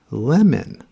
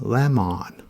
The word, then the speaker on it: lemon: Next is lemon. Many students say it as lemon. Lemon.